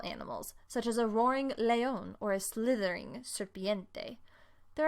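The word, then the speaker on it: león: line would be el leon el leon with an accent on the o a snake is la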